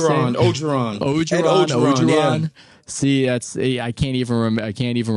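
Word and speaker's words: Orgeron: Coach Obregon? Is that how we say it? Ogeron.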